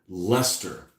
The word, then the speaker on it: Leicester: Oh, there's that word, that L word, Leicester. Although it should be Leicester, the way it's spelled, but Leicester Micro Models did 1/4800 back in the day.